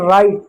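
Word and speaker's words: write: जैसे राइट जैसे वेशनल जैसे हु अब देखिए इसमें जो डब्ल्यू है ना आर के साथ है तो डब्ल्यू साइलेंट हमने सिर्फ राइट पढ़ा वो राइट नहीं पढ़ा।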